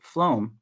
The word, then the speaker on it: phloem: So when you pronounce the word phloem, right, has that F sound, right?